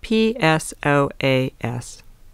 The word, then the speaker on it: psoas: It's spelled P-S-O-A-S, and the P is silent.